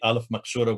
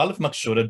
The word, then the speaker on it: alif maksura: And you have the alif maksura, which would be the ah sound, like the S shape at the end of the word.